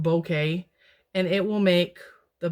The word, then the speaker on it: bokeh: something called bokeh it's cool spelled b-o-k-a it's pronounced bokeh and it will make the background blurry and